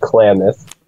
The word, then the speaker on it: Klamath: It's pronounced Klamath. Klamath. No. Klamath.